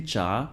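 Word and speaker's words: 茶: In Japanese it's going to be cha, in Korean too, cha, and in Chinese it's going to be cha with the second tone.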